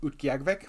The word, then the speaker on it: Utqiagvik: Utqiagvik?